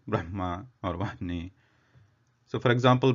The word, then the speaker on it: Brahma: Like that, the pronunciation of Hakara in case when it is combined with some other letter, it always comes first, and its position of origin, it originates from the chest.